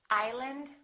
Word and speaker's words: island: cupboard my kitchen cupboard silent s Arkansas Illinois Island debris all right one more silent W answer